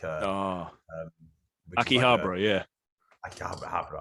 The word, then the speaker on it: Akihabara: video games everywhere man like i was in nakikabara which is like uh ah akihabara yeah i can't have it i don't pronounce it like uh i was there for